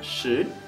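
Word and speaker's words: 十: Số 10 là sứ, số 4 là sự. Các bạn nhớ đọc số 10, hãy tròn môi và rõ chữ.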